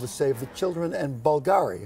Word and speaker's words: Bulgari: save the children and Bulgari am I saying it right yes okay Bulgari to raise money and